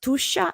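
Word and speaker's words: Tuscia: in the heart of tusha this is pronounced tusha and tusha is precisely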